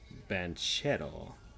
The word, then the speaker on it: Banchero: let me look at paulo benchetta there we go that's how you say it i keep thinking of him like as if he was brazilian but now he's italian american trying to find his